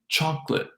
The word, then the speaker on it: chocolate: So saying chocolate, because of the rhythm of the language, the unstressed nature of that K syllable, and the link with the next L, we get this reduction, chocolate.